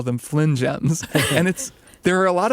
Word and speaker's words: Fling'ems: But then at one point, I was just talking and I called them Flingems because it's spelled that way.